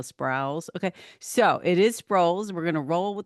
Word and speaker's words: Sprouls: the last name is Sprouls, not Sprouse. Okay? The U is always mispronounced.